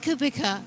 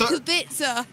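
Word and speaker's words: Kubica: The world be commentators pronounced Kabitza wrong. They were like Kubika. I'm like, no, it's not Kubika. It's Kabitza.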